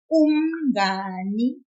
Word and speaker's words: umngani: We will pull the syllable nga, which is N-G-A. Just a little. Listen to this. Umngani. Umngani. If I didn't pull it, it would sound weird, like this.